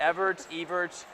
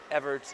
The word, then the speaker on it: Ewertz: Did I pronounce that right? It's Ewertz, close enough. Ewertz. Close enough. Ewertz.